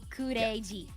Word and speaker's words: Kureiji: Kureiji. Kureiji. Kureiji, Because it's a play on crazy, but Yeah.